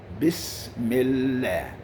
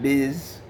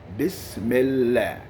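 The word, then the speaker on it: بسم الله: first of course is biss miller not biz okay bismillah the whole sentence is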